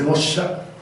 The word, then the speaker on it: Moxa: En realidad ¿La pronunciación está correcta? En realidad sí se Mosha, Mosha, ok.